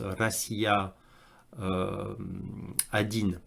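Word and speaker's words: Россия 1: 1 alors ça dit ça se prononce rassia Adine rassia Adine en en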